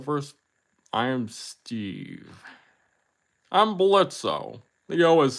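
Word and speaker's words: Blitzø: know announce the first I am Steve I'm blitzo Theo is silent okay the first vote is for hell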